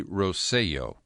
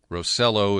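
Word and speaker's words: Rosselló: It could be Rosello. Rosello is how you would pronounce it phonetically.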